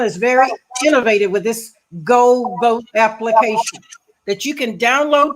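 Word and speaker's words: Geaux Vote: Louisiana is very innovative with this Go Vote application that you can download to your cell phone. GEAUX is how it's spelled.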